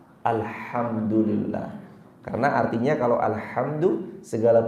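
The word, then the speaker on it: الحمد لله: Maka kalau ada imam yang baca alhamdulillah, kehancuran bagi Allah. Bacanya maka bukan alhamdulillah, tapi alhamdulillah.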